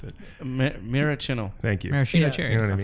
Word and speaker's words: Maraschino: I can never pronounce it. Maraschino.